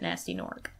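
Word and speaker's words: Gnasty Gnorc: screwed it up because there's a G in the front of both but it's I like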